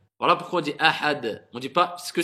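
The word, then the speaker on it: أحد: Pareil, le del, ça fait partie des lettres al-qalqala qu'on doit faire rebondir quelque part, une certaine résonance. Qul huwallahu ahad, ahad. Voilà pourquoi on dit ahad.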